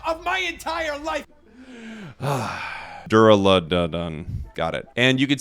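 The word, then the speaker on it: Duraludon: uh the pokemon here i was about to say the name wrong dura ludon that is the most real authentic hysterical laugh of my entire life ugh dura done got it and you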